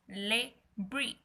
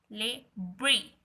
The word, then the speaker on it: Le Brie: Its name is Le Brie. Le Brie. Le is the article as I told you earlier also. Brie.